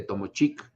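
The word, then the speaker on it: Tomóchic: clásico es el de tomo chic o tomochi pronunciase como se quiera en donde el ejército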